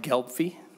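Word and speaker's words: Gelbvieh: and committee and Senator Anderson um it's it's pronounced gpy and it's a German French breed in in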